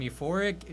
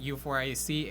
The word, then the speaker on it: U4ric: I am U4ric, not U4ic. It is pronounced U4ric.